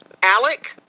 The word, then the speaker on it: Alex: um so it's alexander it's supposed to be alec in a formal setting we have always pronounced it so i would pronounce his name ellick murdock i started converting to alec i don't